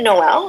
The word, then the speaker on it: Noel: So I want to ask you, is it Noel? Is it how you say it? Because that's my French thing wanting to say. This is correct.